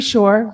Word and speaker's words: Shore: Um, my name is Shore, rhymes with entrepreneur.